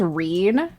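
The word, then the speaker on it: Rean: And then there's Reen, pronounced as you would expect going on.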